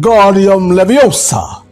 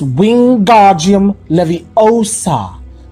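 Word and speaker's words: Wingardium Leviosa: much more luck when guardium Leviosa he shouted waving his long arms like a windmill you're saying it wrong Harry heard her snap it's Wing guardium Levi OA make the guard nice and long you do it then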